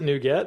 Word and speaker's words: NuGet: communities we also did a circle back on new getet or is it nougat you know uh he pronounced it nougat i' always said nougat in my head so